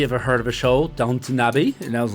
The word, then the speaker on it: Downton: So at number one was with 31 million was Downtown Abbey, which is from that TV show, I guess. Really? You familiar with it? I'm not, and it's pronounced Downton, not downtown. It's Downton.